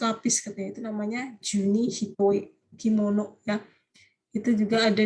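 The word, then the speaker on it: 単: Ini hitoe desu ne, ya ini bacanya hitoe ya.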